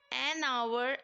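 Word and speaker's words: hour: यो मानेंगे हनन agro you यह तो इसमें आवर एंड ऑनेस्ट है एच कौन सा लेंस है और साइलेंट भी है और उनका जब प्रनंसीएशन है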